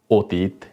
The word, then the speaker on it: অতি: মধ্যে উচ্চারণ করেছি অতি কিন্তু নিয়ম অনুযায়ী হওয়ার কথা ছিল অতি কিন্তু না এটা অতি না অতি কারণ শুরুতে অ তার পরবর্তী বর্ণে রসিকা রয়েছে সেজন্য অতি একইভাবে পতি অতীত